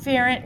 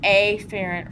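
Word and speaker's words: afferent: remind you we don't the pronunciation is an aerant or eerant but I am going to say it that way because apherrant and epherent sound dangerously close to each other.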